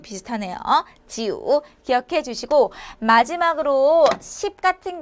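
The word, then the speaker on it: 九: 중요하다는 이유를 여러분들께 알려 드릴 거예요 자 구는 지우 하시면 되세요 자 지우 같은 경우는 뱀이랑 좀 비슷하네요 지우 기억해 주시고 마지막으로 10 같은 경우는 두 가지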